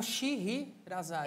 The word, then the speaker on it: Sheherazade: S-H-E-H-E novamente, R-A-Z-A-D-E. Ah, tem um H, tem um Sherazade. É, só que o H-E seguinte é mudo.